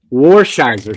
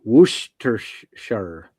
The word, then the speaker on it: Worcestershire: me what he wants me to pronounce, and then I'll pronounce it. No, I'm not going to give you any hints. I'm not going to. Worcestershire sauce.